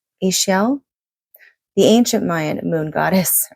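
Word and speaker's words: Ixchel: I think it's pronounced Ishel, Ishel, the ancient Mayan moon goddess, renowned as cosmic midwife and rainbow weaver, offers you her protection and guidance.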